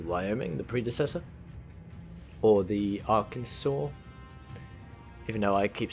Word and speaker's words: Arkansas: the predecessor or the Arkansas even though I keep saying our Kansas because that's how it looks like it's spelled but anyone from Arkansas